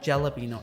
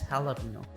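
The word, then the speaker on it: jalapeño: कराते हुए कहेंगे कि इट्स नॉट जैलापिनो, इट्स हैलापिनो।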